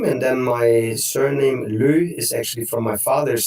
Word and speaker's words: Løh: as a middle name and then my surname Lou is actually from my father's side which is